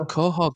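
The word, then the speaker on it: Couhig: I always I always say Kohhog. You know, like where um Peter Griffin lives. It sounds like Khog, but he's an American financial kind of guy, isn't he?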